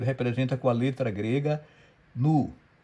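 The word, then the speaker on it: ν: com a letra grega Nu. É assim, os gregos falam Ni. Se você procurar um YouTube pronúncia de grego, a gente fala Ni em português. Os espanhóis falam Nu.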